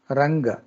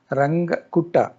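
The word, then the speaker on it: Runge: Number five, ranga. R U N G E. It's the name of the mathematician. Ranga. So don't pronunciate in a different manner.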